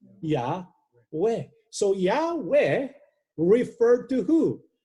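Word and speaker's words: Iove: It's pronounced Yahweh. With the J, I sounding like a Y.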